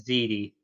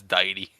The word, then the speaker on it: Deity: I've always pronounced it as Didi. Yeah, no, it's Deity.